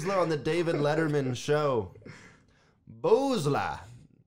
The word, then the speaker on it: Boosler: the david letterman show boozler i i like the way her name sounds if you say it like that yeah but think like booze it has booze in her name that's all i was